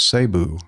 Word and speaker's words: Cebu: He says, "The Tagalog pronunciation is Sabu.